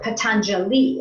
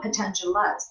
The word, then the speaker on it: Patanjali: make it like like Patanjali it's not potential lots potentially there's five istana right